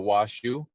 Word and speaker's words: Washoe: with the oe is almost supposed to be pronounced like the word shu so washu a lot closer to how we refer to